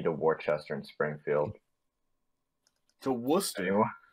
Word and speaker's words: Worcester: To Worcester? Worcester. Worst spelling imaginable, but it's there. I knew someone would pronounce it like that.